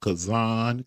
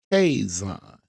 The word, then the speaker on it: Kaison: Not pronounced Kazan Kazun. It's Kison and we are the K factor.